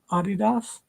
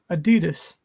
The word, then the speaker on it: adidas: adidas is based in london and it's correct pronunciation is adidas all my life for 50 years it's been adidas it's what we always say oh i want